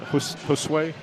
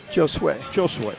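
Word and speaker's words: Josué: not saying that right Josue Joshua Josue they don't pronounce the J with a heart J yeah Treviso sends that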